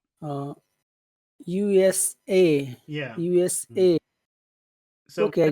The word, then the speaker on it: USA: u n u n you always put the final letter you put the emphasis how about USA uh USA yeah USA so okay